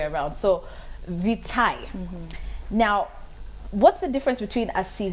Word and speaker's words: vitae: One of the most wrongly pronounced words is vitae, because a lot of people say curriculum vitae. No, they say vitae actually, but it's vitae. Yes. It's vitae actually, so it's the other way around.